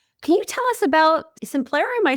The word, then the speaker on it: Simplero: Can you tell us about Simplero?